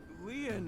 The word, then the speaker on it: Lien: stay by your side my name Leon is spelled l-i-e-n it's been a long